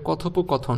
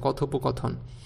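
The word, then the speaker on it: কথোপকথন: এরপরে কথপকথন। শুধুমাত্র কথ। এই কথ বানানে থ ওকারে থ আছে। বাকি কোনটাতেই ওকার নাই। অথচ উচ্চারণ কিন্তু ওকার।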